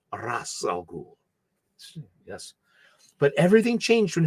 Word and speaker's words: Ra's al Ghul: Not Raz, not Raish, Ra's al Ghul.